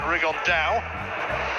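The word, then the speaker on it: Rigondeaux: he's talked about fighting rig on though as he's correctly pronounced with the uh the spanish accent rig on dao and look two absolute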